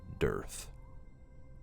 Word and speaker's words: Durth: And it's signed by Durth. Durth. Not like black. Durth. Earth? Durth. Durth. Durth. Pronounced Durth.